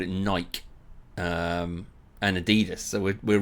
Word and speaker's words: Adidas: were referring to because they usually pronounce it Adidas. And in Germany we say Adidas. Adidas. Super different.